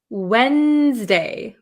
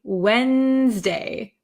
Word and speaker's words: Wednesday: least I pronounce it Wednesday Wednesday Wednesday so I kind of take the D sound out Wednesday okay I think